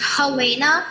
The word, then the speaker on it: Helena: Is it Helena? It is pronounced Helena.